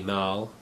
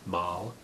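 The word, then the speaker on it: Malle: black mood by Louis mal i believe it's pronounced mall this is the blu-ray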